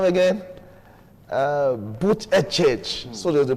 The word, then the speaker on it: Buttigieg: Buttigieg, so they pronounce it.